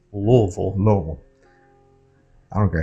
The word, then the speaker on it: Louisville: comments by the way just like Louisville is pronounce Lille Lille I don't care how you want to